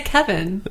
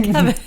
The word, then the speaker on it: Kevan: Well, the only But it's Kevan. That's how it's spelled. Yeah, but they say Kevin. They actually do say Kevin.